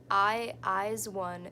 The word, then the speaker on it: IZ*ONE: Eyes one is how you say it. Eyes one. Aijuan? Aijuan? Izone?